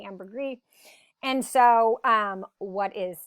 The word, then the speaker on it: ambergris: lecture and not talk about ambergris or ambergris pronounced both ways um most of us say ambergris and so um what